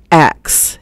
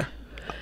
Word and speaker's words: ask: Axe. AX is straight from Old English. The father of English himself, Chaucer, said axe. And it was in the first complete version of the Bible, axe, A-X-E, and it shall be given, straight from Old English. It is not improper. Ask. Right. It is not. It's just no longer used, but it was never improper to say axe with an AX, and we really get it on that one.